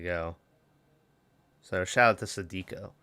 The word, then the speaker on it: Sadako: So shout out to Sadiko. Or Sadiko is probably how you pronounce it.